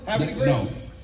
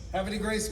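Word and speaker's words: Havre de Grace: Happy Grace. Happy Grace, Maryland.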